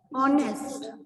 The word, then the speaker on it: honest: ऑनेस्ट, HONEST, H silent है, पर sound किसकी आ रही है, ओ से, तो ओ इज योर वॉवल, तो इसी वजह से एन लग गया।